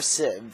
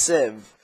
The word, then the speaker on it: sieve: Or sieve, for some people. It's actually pronounced sieve. I've just said sieve for, like, my entire life.